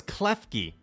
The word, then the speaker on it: Klefki: Also, I don't know how to pronounce this trainer's name. Is that it's Klefki.